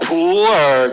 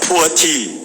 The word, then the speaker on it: pu'er: It is coming up in typical Chinese pronunciation, Mandarin pronunciation. It's called pu'er cha, pu'er tea. But with your typical intonation, it may become a poor tea.